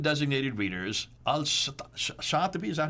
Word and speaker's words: al-Shatibi: Al-Shatibi, is that how you pronounce it?